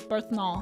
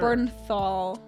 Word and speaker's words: Bernthal: Berthnal. That's the punisher. Bernthal. How do you say that? Berthal. Bernthal.